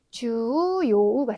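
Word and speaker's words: 重要: 네, 보시면 네, 중으로 읽으셔야 되는 단어들이 네, 대표적으로 중요하다 하실 때 중요죠. 발음이 주요우가 되겠습니다. 그래서 장음으로 해서 네, 초가 아니라 주로 읽으셔야 되고 또 하나는 중량, 무게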